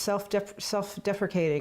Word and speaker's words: self-deprecating: How she mispronounced self-deprecating in front of Sherry. Ha! It doesn't rhyme with appreciate, Imogen.